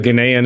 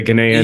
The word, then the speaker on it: Ghanaian: How does traditional, I guess, how do you pronounce it? Like Ghanaian arts? Would that be the right way to say it? Yeah. I mean, I think that's pretty good. Ghanaian is what I say.